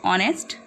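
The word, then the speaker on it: honest: H will be silent, so we will say इट ऑनेस्ट।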